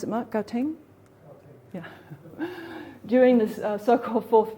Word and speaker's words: Gauteng: This is showing high transmissibility of the Omicron variant, shown in this rapid rise of cases in, how do you pronounce it, Mark? Gauteng?